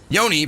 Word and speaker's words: yoni: Yoni, pronounced yoni, is the Sanskrit word for the vagina.